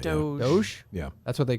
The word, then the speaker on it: DOGE: Not Dodge, that's not how you say it. Doge.